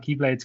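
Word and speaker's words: χ-blade: is to start the Keyblade Wars again, so that he can wipe the slate clean. He wants to summon the legendary X-Blade, which is pronounced Keyblade as well, which is another confusing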